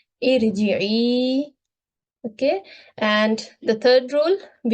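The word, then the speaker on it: ارجعي: So here how we should pronounce it, i'lamu, and here the kasra example, irji'i.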